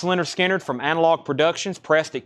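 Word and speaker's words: Lynyrd Skynyrd: Pronounced Leonard Skinner from Analog Productions, pressed at QRP.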